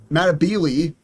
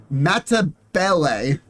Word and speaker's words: Matabele: mispronouncing him according apparently they're not pronounced ma matab no yeah they're not called matab ants they're called matabele that's apparently the right way to pronounce him matabele uh the